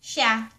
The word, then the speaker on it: siya: Hayaan mo siya (pronounced sha) Hayaan mo siya.